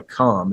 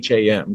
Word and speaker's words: Cham: And that was my understanding is it's pronounced the Kham. It's Cham, Kham or Cham, however you wish to pronounce it.